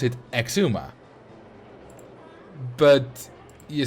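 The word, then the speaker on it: Xisuma: so x i Suma void yeah like that Cuma Kuma that's not how you pronounce it you pronounce it Exuma but you spell it kizuma or like xylophone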